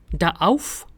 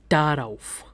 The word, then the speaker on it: darauf: Now whenever a preposition starts with a vowel, we add extra r in between to make the pronunciation better. So ich habe keine Lust darauf.